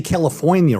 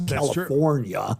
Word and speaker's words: California: I don't even say California right. I don't pronounce the R. It's California.